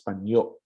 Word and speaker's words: panyo: Handkerchief is panyo. Glottal stop.